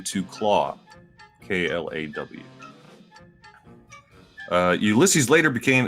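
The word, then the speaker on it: Klaue: yeah uh ulysses cloud i keep saying cloud they say claw um but it reads to me like clow i don't know yeah i mean it's pronounced claw because of you know he's got the arm thing um first appeared in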